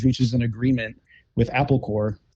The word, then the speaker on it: Corps: Apple Computers reaches an agreement with Apple Corps, which is spelled like the Marine Corps, right?